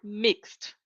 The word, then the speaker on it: mixed: And mixed is the last letter is the X, so the pronunciation is of a T.